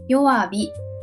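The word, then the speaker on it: 弱火: Chữ “hi” biến thành “bi” luôn nhỉ. Chính xác. Đúng chỗ đó dễ vấp lắm. Đọc là “yowabi”, “chuubi”, “tsuyobi”.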